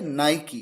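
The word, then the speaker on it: Nike: कर सकते अब देखिए वर्ड है एन आई के ई और किस तरह से इसे प्रोनाउंस किया जाता है नाइकी ये एक शूज का ब्रांड है यहां पर नाइकी के के बाद जो ई है उसका अपना साउंड है बड़ी ई का यहां पर वोल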